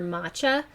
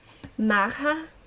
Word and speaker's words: Macha: The correct pronunciation for her name would be, oh god, Maha.